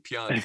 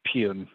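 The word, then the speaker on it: Pyun: the reason i started pronouncing his name the right way because i was saying pyeong for like you know a long time in my life but i think anyway i think technically it's pune but if you wanna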